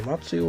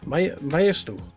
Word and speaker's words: Maisto: I remembered how to say it. I don't know what I was saying there, Matsu or something. Maisto. I think that's how you say it correctly.